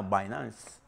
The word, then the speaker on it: Binance: gigante de la criptomoneda Binance. Se escribe Binance, pero esa B se pronuncia BAE.